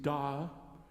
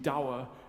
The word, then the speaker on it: dower: What would be nicer and more beautiful would be to sing da and ah. I mean, it's not my language or my pronunciation of English, but it's more beautiful than singing dower and hour.